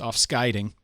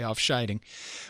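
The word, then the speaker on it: Afscheiding: me make errors like i know it's off skidding even though all every fiber of my being wants to say off-shining but um you know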